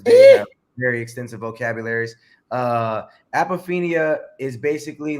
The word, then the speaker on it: apophenia: How do you pronounce it? Apophenia.